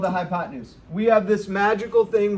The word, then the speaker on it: hypotenuse: the word use u-s-e everybody say hypo ten used that's how you spell it but that's not how we're going to say it you're going to say hypotenuse say it again hypotenuse have you heard that